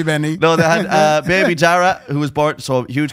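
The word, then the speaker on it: Darragh: Like, but my little sister Ellie and her husband Kenny had a beautiful little baby boy called Dara.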